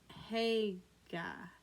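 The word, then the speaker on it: Haigha: His name is Haga." He pronounced it so to rhyme with mayor.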